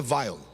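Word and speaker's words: Weil: homem muito importante chamado félix wael ou como alguns pronunciam félix venham mais no alemão e vaiou félix vai lhe era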